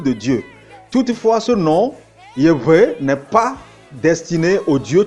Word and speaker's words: Yahweh: de la Bible hébraïque YHWH, qui est prononcé Yahweh ou Yahweh.